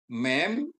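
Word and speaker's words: מם: Mem dan mem sopit ya. Mem dibunyikan seperti M dalam kata makan atau transliterasinya M.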